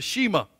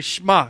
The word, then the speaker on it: Shema: Now, redneck, I call it the Shema, right? But it's the Shema. The word is spelled S-H-E-M-A, Shema. It's just you got a good Hebrew slant to it.